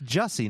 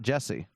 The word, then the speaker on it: Jussie: It's Jussie, not Jesse.